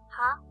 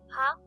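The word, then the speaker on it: は: The next character is ha. When it's used in a word, it should be pronounced ha.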